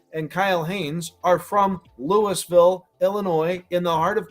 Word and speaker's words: Louisville: You can call Louisville, Kentucky all you want. You can say it wrong and say Louisville, Kentucky, but Louisville, Illinois is how you say that town's name, and it's just remarkable